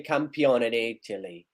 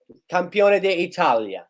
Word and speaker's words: campione d'Italia: El Scudetto, Napoli campione d'Italy. Campione d'Italia. That's how you say it.